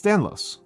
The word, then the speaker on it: Danlos: Um, uh, please correct me on pronunciation here. Emleros syndrome. Is that correct? Daniel. No, it's it's Danlos.